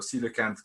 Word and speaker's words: coelacanth: We are all fleshy fin or coelacanth grade tetrapods, or tetrapod grade coelacanths.